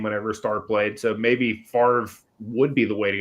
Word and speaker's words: Favre: It's Favre. Favre. You spell it like fava beans.